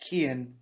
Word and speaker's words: Kian: flash again so so the name is is pronounced Kian so Kian oh yes I was I said Kai and I was close